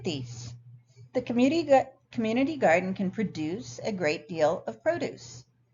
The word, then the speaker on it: produce: Produce, the verb, is stressed on what we call the second syllable, whereas the noun produce is stressed on the first.